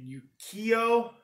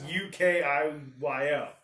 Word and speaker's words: Ukiyo: play from this company, and Ukio, I think is how you pronounce it. It's Ukiyo.